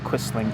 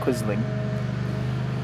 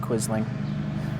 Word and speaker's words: Quisling: uh government in Norway or quizzing is probably actually how you say it I'd imagine I imagine the S is the z sound not quisling quizzing but uh I only really